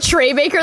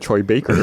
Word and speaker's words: Troy Baker: that was I thought you said Trey Baker that time too. I was like, are you gonna? That was my way to say it correctly, to be like, I've always said Troy Baker.